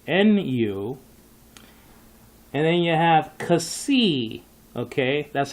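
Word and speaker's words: psi: spell that's spelled out Chi and then you have C and that's spelled out P SI I the p is silent and then you have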